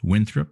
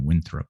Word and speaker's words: Winthrop: You just make it a little more casual. You just kind of Winthrop instead of pronouncing the word Winthrop how it is spelled. Just give that second syllable just a little more of a casual throp.